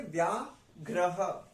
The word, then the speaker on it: व्याघ्रः: क्योंकि ये वाला जो र होता है, ये वाला, ये लेटर के बाद लगता है, बट ये वाला जो होता है ये दूसरे लेटर के ऊपर लगता है। ठीक है, तो हमें दूसरे लेटर से पहले प्रोनाउंस करना होता है।